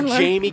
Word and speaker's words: Jaime: Our answers were Jamie King, Adam Sandler, LeVar Burton. All right, Ryan, get ready. Were you thinking Jamie Lannister too? What? No, dual I just meaning? Jamie. Yeah. Pronounce Jaime. Jaime. Jaime. King.